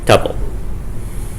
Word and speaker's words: tuple: Tuple. Rhymes with couple.